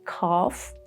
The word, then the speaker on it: calf: Sometimes when there is LF, like in calf, or the British pronunciation calf, and then folk, yoke.